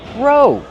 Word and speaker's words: row: Row. Use a long O like go and no.